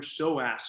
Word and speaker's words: psoas: of is called your psoas muscle it's spelled with a p a silent p at the at the beginning of the word p-s-o-a-s the psoas muscle attaches